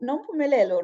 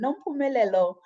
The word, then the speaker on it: Nompumelelo: I know many, when they try to say my name, they always butcher my name, but Nompumelelo, really, Nompumelelo, in my own language, it means mother of all success.